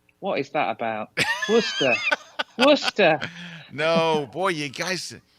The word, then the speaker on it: Worcester: All I can say is Worcester. What is that about? Worcester. Worcester. No, boy, you guys, It's so easy to just pronounce it phonetically. Worcester. Where is Worcester? Worcester would be spelled Wooster. Like rooster, it would be Worcester.